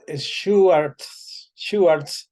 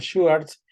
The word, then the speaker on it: Schwarz: eh, se pronuncia algo así como es Schwartz, y este va a ser nuestra introducción a nuestra clase.